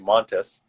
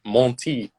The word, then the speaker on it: Montis: name right no problem but my last name um which is spelled and pronounced exactly the same way montis um i guess some people think maybe it's french and they say monty particularly here in canada